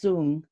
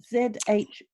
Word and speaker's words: Zhuang: So how do you pronounce Zhuang? Z-H-U-A-N-G.